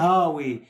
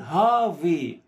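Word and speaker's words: HAWE: بعض الناس بالمناسبة بتغلط في الاسم وتسميه هاوي او تقراه هاوي او كده على اساس انه بتقراه باللغة الانجليزية، بس نظرا لانه هو الماني وحرف الدبليو اللي هو في الانجليزية بنقول عليه دبليو في الالماني ينطق في، فتتقال هافي تمام.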